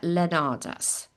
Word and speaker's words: Leonarz: We've got Andrea Leonardas. Pronounce it for me again.